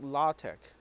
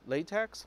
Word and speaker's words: LaTeX: last one and is la tech it spells like la TX like latex but it's pronounced la tech la te X it